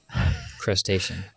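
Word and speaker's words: Playstacean: It is spelled P L A Y S T A C E A N Crustation. Like crustation. It is by someone named Ginger of Oz.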